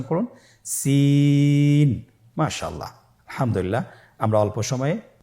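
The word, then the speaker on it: سين: একই মাখরাজ আপনারা সিন হরফটি আবার উচ্চারণ করুন সিন আবার উচ্চারণ করুন সিন মাশআল্লাহ আলহামদুলিল্লাহ আমরা অল্প সময়ে পাঁচটি হরফ শিখে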